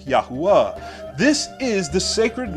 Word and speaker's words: Yahuah: Wow, Hey, Yod, Hey, Wow, Hey, which is pronounced Yahuah.